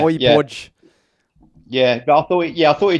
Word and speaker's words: Højbjerg: We've had 3 different pronunciations of Højbjerg today. Yeah, we've had Holberg, Hodgberg. Yeah, okay, yeah, Højbjerg.